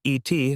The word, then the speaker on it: et: The et key root also shows up in French where et still just means and, pronounced like the English letter a.